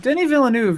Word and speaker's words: Denis Villeneuve: Denis Villeneuve is It is so good. I truly love that movie. Is it I Denny? love- I thought it was Dennis. It's Denny? Denis Villeneuve. Denis Villeneuve.